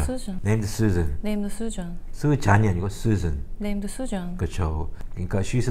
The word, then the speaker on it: Susan: Susan이 아니고 Susan.